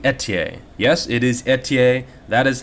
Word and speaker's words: Ethier: not fer fda it's a TA he's french-canadian and that is how it's pronounced so I made sure